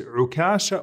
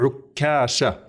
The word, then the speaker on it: Ukasha: So his name is Ukasha or Ukasha with a shadda on the kaf.